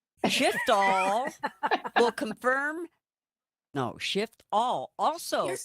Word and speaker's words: Shiftall: It's because I want to make sure the F gets in there.